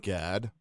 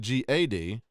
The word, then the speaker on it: Gad: let everybody know the prophets name is always pronounced GAD but if you go look at the phonics of the word it's the word God yeah and that name